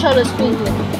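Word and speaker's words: xoloescuincle: Cholo squinque.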